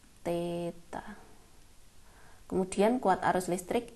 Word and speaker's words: theta: Panjang itu dimensinya L, waktu T, massa M, suhu itu theta, ini bacanya theta.